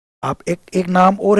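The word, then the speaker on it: Acheron: तो एक एकॉन एक्रॉन इसका प्रोनाउंसिएशन है एकॉन एक्रॉन एक रिवर है जो डेंटी की डेंटी की डिवाइन कॉमेडी में उसका जिक्र किया गया है।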